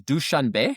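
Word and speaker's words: Dushanbe: The capital of Tajikistan is DuchanB. And uh it's spelled D U S H A N B E.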